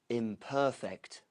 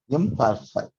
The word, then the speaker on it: imperfect: So it's the second syllable of a 3-syllable word.